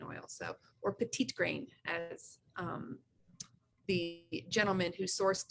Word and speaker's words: petitgrain: ways of use you can get from your pedigreen oil so or petite grain as the gentleman who sourced it who is